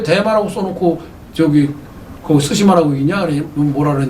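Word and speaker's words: 対馬: 이 대마를 일본어로는요 스시마라고 읽을 근거가 없어요. 일본어로는 이 대자가 일본어는 다이거든요. 다이. 그러면 마는 무마 맞아요. 그러면 다이마 이렇게 읽어야 되는데 대마 도까지 하면 섬도자는 심하니까 다이마 시마가 돼야 돼요. 근데 일본은 다이마 시마 이래야 되니까 섬도자는 빼버리고 대마만 써놓고 스시마라고 읽어요.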